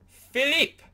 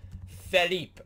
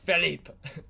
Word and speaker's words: Philippe: And the winner is Philippe, and not just Philip, but Philippe, and we have to pronounce it like Philippe.